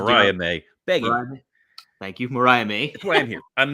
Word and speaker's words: Mariah May: tag match also happened was Tony storm and Maria May versus Maria May beg thank you Mariah May that's why I'm here I'm mainly here to